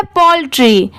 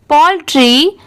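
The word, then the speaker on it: poultry: AND एंड, ये है पोल्ट्री, POUL Paul, और TRY, इसे ट्राई नहीं पढ़ेंगे, इसकी साउंड क्या आ रही है ट्री की, पोल्ट्री।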